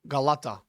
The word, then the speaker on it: Galata: And you just pronounce it K, I think. No, Galata. It's not a K or or a C, it's a it's a G. It's a Galata tower.